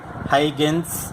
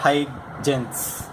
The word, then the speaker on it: Huygens: about heightens principle so usually it is pronounced as high gains or high genes okay so before going